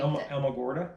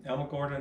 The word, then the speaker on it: Alamogordo: I cannot pronounce the name. Alamogordo. Yeah, nice town. Alamogordo, New Mexico.